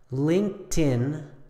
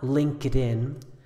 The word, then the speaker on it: LinkedIn: pronunciation does not apply once again we have Linkin not LinkedIn Skype not Skypey and